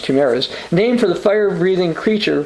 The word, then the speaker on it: chimeras: Such mixed species embryos are known as chimeras, or chimeras, chimeras as I would say from Michigan, but it's actually pronounced chimeras, named for the fire-breathing